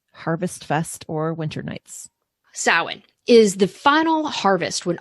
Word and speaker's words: Samhain: year off with my personal favorite, which is Samhain. And you may, if you're just looking at the spelling on that, it's Samhain, but the pronunciation is Samhain, and it runs from October 31st to November 1st.